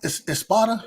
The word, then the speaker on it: Espada: Espada.